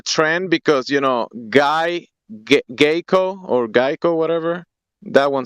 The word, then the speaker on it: GEICO: because you know guy geiko or geico whatever that one sounds better it's pronounced gecko but you you you just like you just like the little lizard mascot admit it that's all